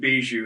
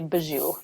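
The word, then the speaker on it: Bejou: manola probably i think i always pronounced it bijou so that was not correct you know some people say bijou those of us who are from there say baju gotcha gotcha okay so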